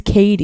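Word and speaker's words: Cady: Caddyy Haron, but her name is Katie. The real name is Katie. Yeah. Oh, that makes a lot of sense. It's just spelled like Caddy, right?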